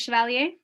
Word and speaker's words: Chevalier: Do you pronounce it Chevalier?